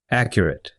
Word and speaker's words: accurate: gate mate plate now in most two or more syllable nouns and adjectives when the stress is not on the last syllable the final a is pronounced it listen to and repeat